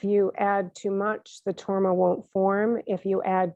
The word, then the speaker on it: torma: um and so um the word torma in tibetan is made up of two syllables tor ma and tor means to